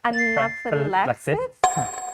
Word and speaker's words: anaphylaxis: Anaphylaxis? Is that correct? Anaphylaxis. Anaphylaxis. Yeah, there's Five. 5 syllables. Anaphylaxis. Yeah, perfect. Yeah. Yay. Yeah, and so anaphylaxis with the stress on the 4th syllable.